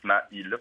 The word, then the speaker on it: Smail: Ça finit par un L. Il y a deux syllabes. Il y a Sma et il, mis bout à bout, ça fait Smail.